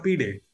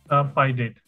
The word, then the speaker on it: Pi-Date: Is it pi date or p date? Pi date. Pi date, perfect.